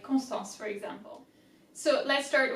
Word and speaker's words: Constance: First syllable, con, C-O-N, easy. Constant, S-T-A-N, stan, A-N is en. Constant, N-C-E. Constance, Constance.